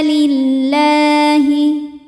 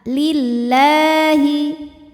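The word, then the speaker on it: لِلَّهِ: Qawwamina lillahi, lam pada lafaz Allah atau lam jalalah dibunyikan secara tarqiq sebab huruf sebelumnya berbaris kasroh, maka dibacanya tipis. Jadi bunyinya la, lillahi. La hukumnya adalah mad tabi'i muqaddar karena huruf lam berbaris fathah panjang, maka cara bacanya kita panjangkan lamnya ini 2 harokat.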